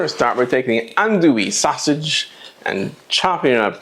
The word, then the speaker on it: andouille: And I'm an American, so we're going to pronounce it andouille. Andouille. Even though that's probably not the correct French pronunciation, that's alright.